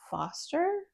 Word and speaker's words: Forster: End by em Forster I say Forester because there's an R there but I feel like everyone else says Foster so I don't know if I am pronouncing it wrong but Howard's end was